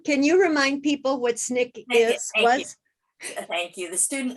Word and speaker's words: SNCC: you remind people what snick is thank you the student non-violent coordinating committee sncc was the abbreviation which we pronounced snick and that was one